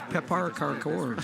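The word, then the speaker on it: pepparkakor: you obviously I can't pronounced read that well. Swedish. It's Pepar Karkor.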